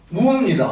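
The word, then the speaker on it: 畝: 뭐라고 읽습니까? 묘라고 읽습니다. 묘. 무입니다. 음은. 무. 정음이 무입니다. 묘가 아닙니다. 전부 그런데 묘. 이랑 묘라고 읽지 무라고 읽는 분들을 별로 못 봤습니다. 묘라는 원래 발음은 없었습니다. 이랑 무입니다.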